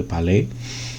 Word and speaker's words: Palais: Jadi the Palace sebetulnya disebutnya sih, tapi kalau pakai cara baca Prancis ya the Palais.